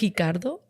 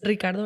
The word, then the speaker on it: Ricardo: Do you pronounce it as Brazilians do? Like Ricardo? No. Or no, it's Ricardo. It's still kind of Spanish, which is funny because